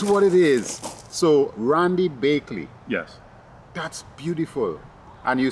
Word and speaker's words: Baechle: last name which I would like him to pronounce it it's bakeway oh yes but but you don't spell it that way yeah that is what it is so Randy bakeley yes that's beautiful and you spell it b